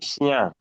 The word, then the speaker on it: chien: When you have CH or SCH, you shh in French. We have chien, right?